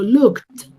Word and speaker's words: looked: Y yo no puedo pronunciar looked, yo digo looked, looked, con esa T al final, ¿listo?